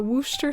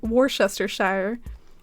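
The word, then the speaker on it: Worcestershire: that my entire life the the Wooster sauce at least probably wasn't as bad as um Worchester Shire rhinestone says what rhymes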